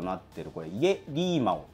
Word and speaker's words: 夜狸猫: となってるこれイリーマとはですね中国語で夜を表す家という言葉とたぬき猫と書いてこれリーマって言うんですけどが